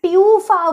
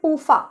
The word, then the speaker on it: PUFA: लिखा है और आपके पूफा भी। First of all, they are नॉट म्यूफा एंड प्यूफा, ठीक है। बहुत से लोग इन्हें म्यूफा एंड प्यूफा बोलते हैं। इज मूफा एंड पूफा, नॉट म्यूफा एंड प्यूफा, ठीक है।